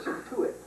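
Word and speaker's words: Scituate: move from there to satuit doesn't look like that but it's spelled s CI t a t and then finally they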